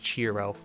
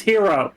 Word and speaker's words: Gyro: like what's going on C pronounced cherro oh or cherro cherro Cher Cher cherro No it's it's pronounced gyro Zepp no it's pronounced hero oh I'm going the only one who gets that it's actually I've heard pronounced it pronounced with a yo you're right no it's hero I could probably pick